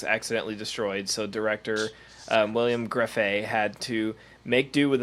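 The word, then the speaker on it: Grefé: William Greffey? Greffey? How do you say that, Brian? Greffey.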